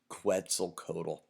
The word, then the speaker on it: Quetzalcoatl: the first time to actually master how to pronounce Quetzalcoatl Codel he is the the feathered serpent God